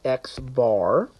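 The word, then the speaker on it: x̄: And so we pronounce this as the sample mean, which is pronounced as X bar.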